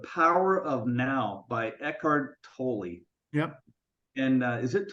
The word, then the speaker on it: Tolle: of Now by Eckhart Tolle yep and uh is it totally so yeah yeah and um spell totally yeah what's that it's spelled totally but I think he calls it toll yeah and and he